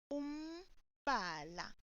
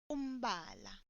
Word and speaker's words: umbala: Note that the sound looks like it can be mba. However, it is pronounced umbala. And the plural is imibala, imibala. This is a shin bone, color, or markings. Umbala.